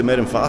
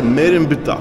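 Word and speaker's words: Merenptah: Abbiamo appena chiesto al local beduino qui, non si dice Merenfa, si dice Merenbta.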